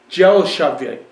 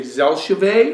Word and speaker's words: Dzelshavi: this is a red dry wine 2019 it's pronounced gel shave gel shave gel shave you can say zel shave or delave but gel shave the DZ together